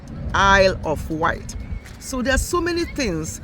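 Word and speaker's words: Isle of Wight: says I love white I love white because that s is silent Isle of white so there's so many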